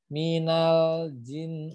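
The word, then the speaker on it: مِنَ الْجِنّ: Nah, di sini ada dua nun bertasdid ya. Jadi harus ditahan keduanya ya. Minal jin. Nah, ini yang pertama harus ditahan. Jadi bacanya minal jin. Nah, kemudian nun bertasdid yang keduanya harus ditahan juga.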